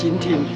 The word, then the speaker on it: 錦町: During the Japanese reign era, this area was "Jingting" (Nishiki Cho" and some people pronounce it as "Jingding".